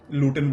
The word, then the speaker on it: Luton: लूटन में रहता हूं लूटन की स्पेलिंग है एल यू टी ओ एन तो आई सेड इड लूटन अब यहां के जो नेटिव लोग हैं वो ज्यादातर टी को प्रोनाउंस इस तरीके से नहीं करते लूटन वर्ड के अंदर तो